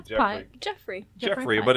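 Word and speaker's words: Geoffrey: would you pronounce that name I say Jeff Jeffrey Jeffrey but it's spelled with a g g e o f f r e y Jeffrey Jeffrey Pike as a German you YouTu submarine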